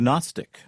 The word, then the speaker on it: Gnostic: Why is it spelled with a G? It's one of those things. Gnostic. Just for fun. Well, It's like pneumatic.